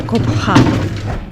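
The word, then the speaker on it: Cobá: То есть у них читалась вот эта вот глухая буква Х, поэтому они говорили Кобха. И давайте сейчас еще раз по карте посмотрим. Вот мы с вами прошли сейчас пирамиды группы Коба, или Кобха, как правильно мы узнали, произносится.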